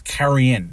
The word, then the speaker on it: Carrion: and yes it's pronounced i know it's spelled like carry on but we're not boarding a plane here it's you know it's carry in that's how it's pronounced